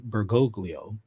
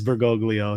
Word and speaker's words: Bergoglio: I am enthusiastically following bergolo or bergolo I'm sorry Father alman's pronunciation of Pope francis's name is really it's hard to get it's hard to get past it once you hear it as bergoglio it's you know it's